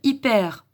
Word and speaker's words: hyper: Ce mot-là, on va de nouveau lire la lettre Y comme si c'était un I. Donc on va lire hyper.